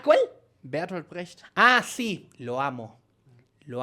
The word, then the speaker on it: Bertolt Brecht: Lo que pasa que, claro, nosotros pronunciamos como el culo. Ajá. Entonces yo... ¿cómo es? Dilo de nuevo. Bertolt Brecht. Nosotros decimos Bertolt Brecht.